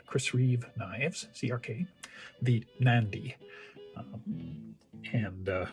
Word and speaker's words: Mnandi: be pronounced but rather the m is almost silent it just can set itself at the beginning of the word so it's almost nandy except you put the m on so mandy mandy now i'm not an